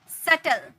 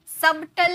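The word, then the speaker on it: subtle: नहीं बोलते climb okay सटल सबटल नहीं बोलते एस बी जो है साइलेंट होता है सबटल नहीं बोलते य पर जो बी है साइलेंट है इसका कोई मतलब ही नहीं है सटल डाउट डाउट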